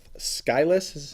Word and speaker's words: Skylis: We got with us Mary Beth Skylis. Is that how you pronounce it?